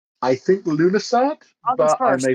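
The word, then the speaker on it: Lughnasadh: I can never pronounce this one. Yeah. Lughnassadh. I think Lunasat, August but I 1st.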